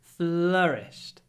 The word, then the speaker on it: flourished: your FL it's flourished FL we move very quickly from the L to the r flourished flourished next one he